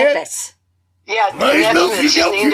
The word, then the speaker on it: Nephthys: Nesmith or something like that? She's hot, too. Oh, Nephthys. Say Nephthys. it? Yeah, Nesmith. She's named after Mike Nesmith, the sexiest dude. Nesmith. Okay. No, Nephthys.